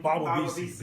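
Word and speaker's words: Bawavisi: How do you pronounce it again? Baba Visi, B-A-W-A-V-I-S-I.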